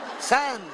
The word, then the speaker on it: son: San significa figli, Teddy Preston e figli. Si scrive son, ma si legge san.